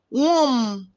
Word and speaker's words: womb: Womb, clamor, letters MB. Letter B is silent.